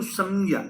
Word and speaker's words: संज्ञा: इसको बहुत शुद्ध उच्चारण करेंगे तो संज्ञा।